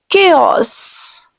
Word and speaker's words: chaos: This is chaos. You have to pressurize K-A-Y.